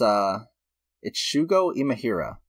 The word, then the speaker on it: Shugo Imahira: Let me find, I want to make sure I pronounce the name correctly, of course. Oh yeah, it's Shugo Imahira.